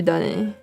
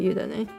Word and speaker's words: yudane: Oh, okay, so it would be yudane. Okay, yudane.